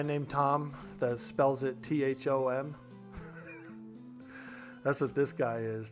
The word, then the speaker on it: Thom: Thom. We got to get our revenge on this Thom. You ever met a guy named Tom that spells it T-H-O-M?